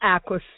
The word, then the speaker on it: Aisquith: It is 813 Aquis Street. Now, me and everybody I know argue about how you pronounce Aquis Street. But how do we spell Aquis Street?